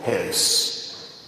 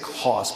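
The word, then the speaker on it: Höss: the autobiography of Rudolph Hess. Now, it looks like Haas, but there's an umlaut over the O, so it's pronounced Hess in German.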